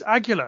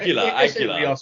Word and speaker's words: Aguila: Aguila, it's not hard. Aguila.